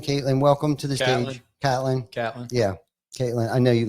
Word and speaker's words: Catlin: are watching right now, I apologize for Ty calling us Caitlin, but that's all right. No doubt. I do know a Jim Caitlin, spelled with a K though. Spelled the same exact way. Yeah. But they spell it with a K. I know it's Catlin.